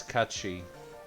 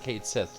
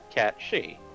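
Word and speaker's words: Cait Sìth: yes catchy lovely and if you're wondering why we're pronouncing that that way it's an actual celtic term for one of the fae yeah before i knew that i used to pronounce it kate sith like everyone else same here and then i found out about it and it's like oh it's supposed to be catchy and now we're just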